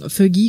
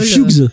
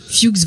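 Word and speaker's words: Fuches: Donc on parlait tout à l'heure justement de Fuggy, je sais pas comment on prononce ça, qui est joué par Stephen Root, qu'on a vu dans pas mal de comédies aussi, dans Dodgeball. Ah c'est Fuchs. Fuchs, voilà, merci.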